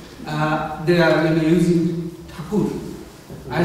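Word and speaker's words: Thakur: two members of the theur family um you theur as in like bar and holy Lord um that the British um would just with their imperfect hearing heard it as Tor and that's how it was a mistake it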